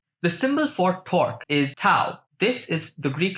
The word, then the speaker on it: tau: The symbol for torque is tau. This is the Greek letter tau, it's pronounced T-A-U.